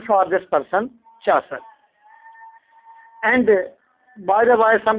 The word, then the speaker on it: Chaucer: I felt that that's the right pronunciation for this person, Chaucer.